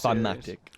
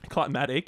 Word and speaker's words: climactic: climactic, Climatic, yeah, about that. Don't you mean climactic? dickhead. Is that actually real? Yeah. Is that actually real? Yeah. Yes, Jacob. That is how you pronounce. Climactic.